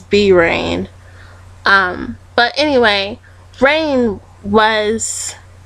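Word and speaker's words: Bi Rain: across his name and his name was by rain or that's what I thought before I realized I was pronouncing it wrong for like a year it's B rain um but anyway rain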